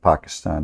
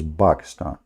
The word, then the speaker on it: Pakistan: How the Quran says, by the way, this is the correct way to say it, not Pakistan, like in English, you know, that's funny. It is Pakistan, okay?